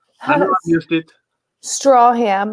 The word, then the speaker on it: Stracham: Strawham, like a straw you drink from, ham you eat.